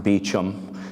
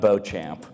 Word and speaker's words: Beauchamp: And I remember telling my teacher, I read Beauchamp's book last night, and she said, no, it's pronounced Beecham, not Beauchamp, as the first one.